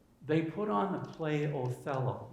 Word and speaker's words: Othello: They put on the play Othello. In German, it would be pronounced Otello.